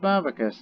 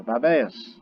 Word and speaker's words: Babaeus: Remember the pronunciation, not Babacus. It's got an E there. Babaeus.